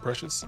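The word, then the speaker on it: Precis: Also, the name Precious is like throwing me off because it's not spelled like Precious, but it's pronounced Precious.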